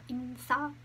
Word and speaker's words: 인싸: Here we have insa and asa. That's how you pronounce it.